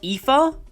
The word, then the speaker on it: Aoife: Chronicles is any indication, this name is pronounced Aoife.